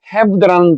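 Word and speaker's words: halve: 자, 요 문장에 have라는 단어가 약간 낯설 수가 있는데 요거는 have 반 2분의 1이라고 하는 have의 동사형이 이겁니다. L을 자는 발음하지 않습니다. 할배가 아닙니다. have입니다.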